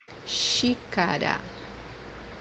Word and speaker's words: xícara: First one is pronounced as CH or SH in English. The example that we have here is the word cup, which means xícara, xícara, the second pronunciation for